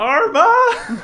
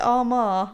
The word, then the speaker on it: Armagh: Armagh. It took me a long time to pronounce it like that. I used to call it Armagh, and everyone said it was wrong.